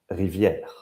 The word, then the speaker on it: Riviere: Reiet. Is that how you say it? Rivier.